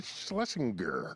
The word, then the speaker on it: Schlesinger: And we have in studio comedian Eliza Schlesinger.